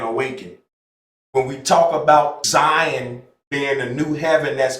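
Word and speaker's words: Zayin: It's spelled Z-A-Y-I-N, Zion. But doesn't it sound like Zion?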